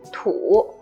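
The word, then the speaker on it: 土: the third one is longer this one is pronounced as tu it means dirt or earth or you can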